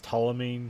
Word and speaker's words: Ptolemy: But like it's bookended by Anthony Hopkins as Ptolemy. I think that's how you say his name. Starts with a P and a T and Ptolemy.